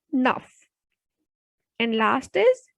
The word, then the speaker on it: neuf: Next is 9, nuff. Because in my previous video, I told you that when a word ends with consonant C, F or L, then it will be pronounced completely. So the pronunciation will be nuff.